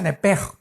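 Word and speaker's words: נפש: Se pronuncia nepej, porque la CH en hebreo es nepej.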